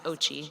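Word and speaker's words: OCCHE: We affectionately pronounce the name of the office OCHE, the Office of Climate Change and Health Equity, so you'll hear me calling it that. OCHE is charged with coordinating efforts across the Department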